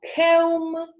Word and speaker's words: comb: B is silent when followed by M. For example, comb, tomb, or by T, as in dead, subtle.